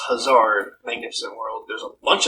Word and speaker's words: Hazard: category e l has hazard pronounced huzzard magnificent world there's a